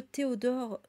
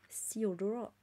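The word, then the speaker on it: Theodore: avec les pluscumains de Théodore sturjon Theodor si on veut bien prononcer euh h et en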